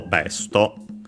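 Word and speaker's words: ベスト: We search for Besto, but I hope it will be accented just like in English. And it is. So on the first syllable, Besto.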